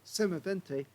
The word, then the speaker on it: Semovente: m43 but it is the Italian version so semavente uh would be the correct um uh pronunciation uh you can see it's got a